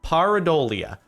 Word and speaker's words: pareidolia: can help with this paradia that's how you pronounce it is a psychological phenomenon